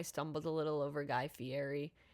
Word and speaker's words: Fieri: a little over Guy Fieri because I always used to pronounce it Guy Fiery. And so I had to remind myself which one was the correct pronunciation.